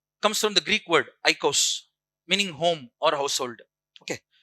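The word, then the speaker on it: οἶκος: Oikos, O I K O S. Pronounce this oikos.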